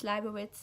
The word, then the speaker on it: Leibovitz: I think she pronounced it Leibovitz, and it's Leibovitz in like the German version, but I will link also a video down below of her.